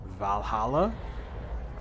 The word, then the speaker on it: VA-11 Hall-A: doing well we're playing I think this is pronounced Valhalla I have kind of known about this game